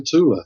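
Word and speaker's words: Thule: island were searching for Tula which is like the northern version of Atlantis it's often it's often written as thula and often pronounced as thula in American films but it's tula There's no th in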